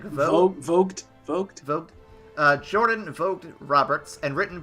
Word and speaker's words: Vogt: It's not Voight, right? It's like Vogt.